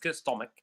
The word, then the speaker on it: stomach: So chemistry, mechanic, um chemotherapy, um let me see um uh stomach also is a word where the ch is pronounced as stomach.